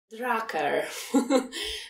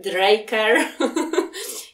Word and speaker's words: Drucker: Rymuje się z tracker. Kurczę, nie przychodzi mi teraz nic do głowy, a nie chcę palnąć głupoty. Drucker. Ludzie okay. mówią o nim. Draker. I w zasadzie przez wiele lat miałam problem, jak poprawnie wymówić to nazwisko, więc słówko tracker pomogło mi z prawidłową wymową nazwiska Petera Druckera.